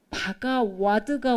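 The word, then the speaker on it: Bhagavad: 말씀드릴 거는 그 산스크리트를 표기할 때 바가와드가 원래 산스크리트 본래 발음에 가깝습니다. 바가와드. 그래서 제 책도 박가와로 돼 있는데 어 제가 작년 말인가 얼마 안 됐는데요. AI가 나왔잖아요. 본격적으로 사람들이 사용하기 시작했잖아요. 근데와드 이렇게 표기를 하면 AI가 검색하는데 좀 지장이 있어서 어 표기법을 바꾸는 바람에 지금 여러분 보시는 슬라이드에도 표기법이 막 섞여 있어요. 제가 고친다고 고쳤는데 제 눈엔 안 보이는 거 있죠. 바가 저는 바가와드를 더 맞다고 생각 원래 발음 원래 발음이 바가와드예요.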